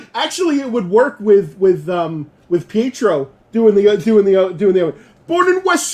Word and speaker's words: Pietro: So have y'all caught that Wanda says Pedro Yeah, and everybody else says Pietro? yeah. She always says Petro, Yeah. but everybody else says it like more syllables to it. They say the Well, the E in it.